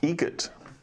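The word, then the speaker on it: Eget: How do you say the name? Adam Egret. Egret. Spelt differently. Like the bird.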